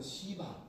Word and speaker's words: 시바: 시바. 네. 네. 발음을 좀 세게 하면 안 됩니다. 할렐루야. 네. 시바 하면 안 돼요.